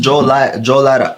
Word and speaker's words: Johlotta: Unlimited access for yeah, my name is pronounced Joe Lara.